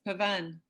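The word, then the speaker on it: Pavane: Is that the pronunciation, Linda? Yes, Pavan.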